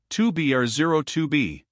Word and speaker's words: 2 B R 0 2 B: were supposed to call the zero in the telephone number he pronounced not the number was 2B or 02b it was the telephone number